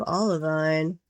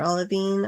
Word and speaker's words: olivine: Oh, and I forgot we do have olivine or olivine, I think, is the correct pronunciation, according to my geology buddy at least.